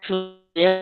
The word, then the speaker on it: phloem: Now xylem and phloem.